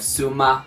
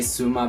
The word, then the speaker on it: Xuma: name is Prem Kumar instead of suma but everybody just say suma because we can pronounce a click yeah well not and